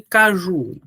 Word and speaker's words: caju: Qual é a sílaba tônica de caju? É só você chamar a palavra em voz alta. Caju. Olha, o Ju é mais forte, certo?